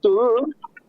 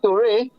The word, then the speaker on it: Ture: Some people pronounce it Turu. We pronounce it Ture.